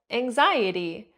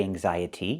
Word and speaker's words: anxiety: So anxiety and the ty sounds like t but you didn't say anxiety, you said anxiety. So the t does not sound like t. It sounds like d. It's a fast d. The t is between vowels. So in America, we don't say anxiety, we say anxiety. There's no t. There's no real t sound.